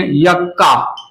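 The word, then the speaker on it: yucca: And this लेप्टोसेंट्रिक इट is found in यक्का, यक्का पढ़ते हैं, कोई कोई युक्का पढ़ते हैं। प्रोनाउंसिएशन का लीजिए, मेरा तो प्रोनाउंसिएशन यक्का है, कोई कोई युक्का भी पढ़ता है, तो ये युक्का हो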